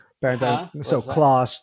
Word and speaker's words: Clos: connected, yeah, backbone, from I forget the right. the scientist's name, CLOS, but it's named after him. Yeah, but anyway, so just want to Clo, make I sure think everyone kind they of pronounce it following along.